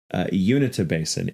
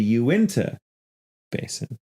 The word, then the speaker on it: Uintah Basin: refer to the area of Utah as the unity basin it is actually pronounced the Uintah Basin I meant the Aventa unit not the unit